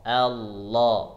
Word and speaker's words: Allah: tepat Oh ya Allah Allah itu dicoba Allah jadi lidahnya ujung lidahnya ada di gusi tempat tumbuhnya gigi atas Hai jadi gusinya ya